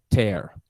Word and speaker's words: tear: Não confundir com tear, de lágrima, tá? E a escrita é igual. Então, para diferenciar, para achar já o verbo, eu vou digitar o infinitivo dele. To tear. A pronúncia é tear.